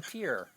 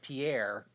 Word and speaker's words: Pierre: You had to walk to pier or as everybody else in the United States would call it pierre.